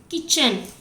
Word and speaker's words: kitchen: And kitchen. And kitchen here, T is sound. T sounds very less. It will not sound at all. It is silent.